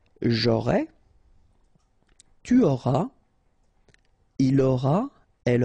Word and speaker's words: aurai: J'aurai, remember, A and O together will produce this O sound.